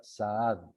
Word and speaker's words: Saad: Mi apellido, que es con doble A, se pronuncia Saad.